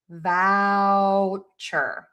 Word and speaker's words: voucher: Now for vow, which is v o u c h e r, move your mouth for the ow. Vouchure.